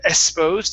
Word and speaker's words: exposed: Okay, the X is a KS sound. So when we say the word, instead of exposed, it's exposed. Exposed.